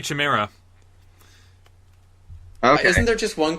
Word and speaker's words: Chimera: I was going to say Chimera. Okay. Isn't there just one chimera? Oh, there might just be one. Oh, man. In Greek, you pronounce the CH as a K.